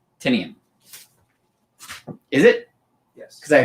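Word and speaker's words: Tynion: I always heard it because his company is called Tiny Onion because it's supposed to rhyme with his name.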